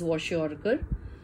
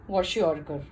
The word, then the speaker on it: kwashiorkor: to study, that is kwashiorkor. Now the name is little different and difficult because it's not very commonly heard name, and K is silent when you pronounce, but you'll have to spell it out.